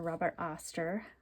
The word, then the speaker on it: Robert Oster: All right, so the inks are all from Robert Oster, or Robert Oster, depending on how you say it.